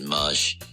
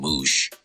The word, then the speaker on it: Mush: Which, I mean, I got a homie, his name's Mush, and people mispronounce his name all the time. And people he went to university with, we've been friends with for a long time, those call him Moosh.